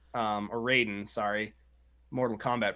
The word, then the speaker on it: Raiden: middle of each side yes we got a Ryden on the right um or Raiden sorry Mortal Kombat pronunciation right Raiden's this game